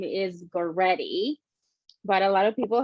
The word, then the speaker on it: Goretty: My nickname is, but my actual name is Goretty. But a lot of people have a hard time pronunciating it, so I go by for the ones that can't do it.